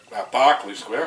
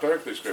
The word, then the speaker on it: Barclay Square: Yes, There's quite a few lobbed on him last week with their knockout tip, Barclay Square. I keep saying Berkeley Square, but it is Barclay, the pronunciation.